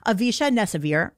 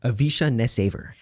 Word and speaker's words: Avisha NessAiver: Avi who is really avisha nessavir no I said it wrong say it again say your name avisha nesaver avisha nesaver who we're gonna keep